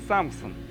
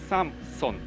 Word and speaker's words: Samsung: The correct pronunciation in Korean is "Samson." So it's not "Samsung," it's "Samson."